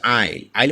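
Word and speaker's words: aisle: island মানে হচ্ছে দ্বীপ তারপর আইল আইল মানে হচ্ছে দুই স্বরের মাঝের অংশ এখানেও আমরা দেখতে পাচ্ছি এস টি সাইলেন্ট রয়েছে টি সাইলেন্ট ওয়ার্ড এখন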